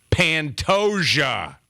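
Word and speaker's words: Pantoja: event Moreno versus pantosia pantosia is how you pronounce it we were way off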